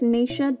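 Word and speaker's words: Naoise: correctly here it's really quite simple meg it's nisha dolan and me cute which is down here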